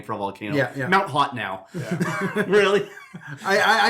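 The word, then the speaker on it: Hotenow: a volcano yeah mount hot now really i i choose to believe that's haute now it probably is but it is spelt hot enough yeah h-o-t-e-n-o-w yeah that's hot now someone else wanted to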